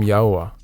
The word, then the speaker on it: Yahuah: been given and never been lost it is yaha yah I am yahwah that is my name in my esteem will